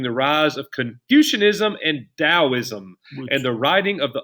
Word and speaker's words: Taoism: Taoism. Wrong. Taoism.